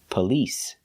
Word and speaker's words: police: on the second syllable police it's not on the first syllable we do not say police it's police police because the stress is on the second syllable the first syllable is pronounced relaxed p p police police